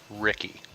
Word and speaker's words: Ricky: It's Adam Ricky. Oh shoot, my bad. I know. I was calling him Richie because I thought it was Italian, but apparently it's just from Maine. All right, we've got Adam Ricky highlighted in red.